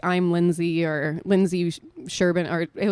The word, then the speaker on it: Lynsea: Lynsea. Yeah. Where's the A come in though? The A is silent technically.